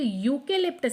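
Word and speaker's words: eucalyptus: नहीं कर रहा है आप इसे प्रोनाउंस कीजिए यूकेलिप्टस इट्स यू के लिप्टस यू ये है इंग्लिश का वाई एंड वाई है कसोनेंट दैट्स व्हाई आपने अ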